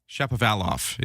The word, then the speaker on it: Shapovalov: Shapovalov is how you say Denis Shapovalov's name, as he plays at Wimbledon today.